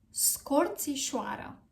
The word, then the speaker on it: Scorțișoară: So here we have ț, we have we have sh. How are we going to pronounce this word? Scor, ți, șoa, ră. Scorțișoară. Scorțișoară.